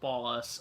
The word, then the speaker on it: Ballas: gang in San Andreas the Ballas is the gang's actual name in English as well pronounced Ballas okay yeah I just I